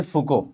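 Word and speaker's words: Foucault: ऐसा नहीं करना बच्चों, माइकल फुको इनका नाम है। अब इसका नाम भी आप लोग देखो, जो स्पेलिंग बता रही है इसके हिसाब से भी बच्चे बोलते हैं, गाली वाली देते, बाद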